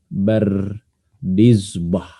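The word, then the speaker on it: بردزبه: bardizbah aljfi ya aljfi Ini bacanya bardizbah Ya J memang beliau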